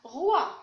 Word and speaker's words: roi: Et R avec WA, ça se prononce roi.